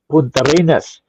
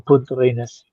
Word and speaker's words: Punta Arenas: Somebody's asked me, because people say I pronounce Punta Arenas, because that's how the locals say it. Some people in Santiago were pronouncing it differently, a little bit different, just without the S, Punta Arena. But the locals in Punta Arenas, that seems to be how they say it.